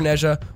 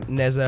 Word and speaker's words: Nezha: The first one is going to be for Nezha, or Neza, however you want to pronounce his name.